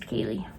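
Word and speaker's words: Ceilidh: not on Instagram and my name is spelled really weird it's CEI Li d8 and yes it's pronounced Kaylee hugs and I give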